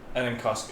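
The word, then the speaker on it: ἀναγκαστῶς: I guess it's spelled enenkostos, but it's the G becomes like an N sound.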